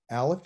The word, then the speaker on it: aleph: will forget this because the aleph is silent except when there's vowels beneath it that's a rule okay this is the rule aleph is silent so it's